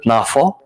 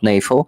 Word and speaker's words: NAFO: of that uh organization calls it nafo not nefo so that's the right pronunciation of that abbreviation so Naf truck this